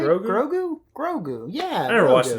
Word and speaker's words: Grogu: Goru. I don't know how to say it. It's Baby Yoda. Grogu, right? Grogu.